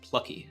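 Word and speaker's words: plakkies: plackies man chanclas and Afrikaans uh pronounced like Plucky oh left out the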